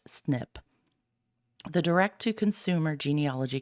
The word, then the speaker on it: SNP: variable positions are called single nucleotide polymorphisms SNP pronounced snip the direct to Consumer genealogy companies use a